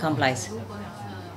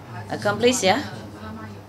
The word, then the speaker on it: Komplize: Komplize, wie wird das ausgesprochen? Komplize. (Kompliziert.) Nein. Nicht kompliziert. (Komplize.) Komplize, ja, gut.